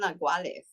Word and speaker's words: naguales: called naguales.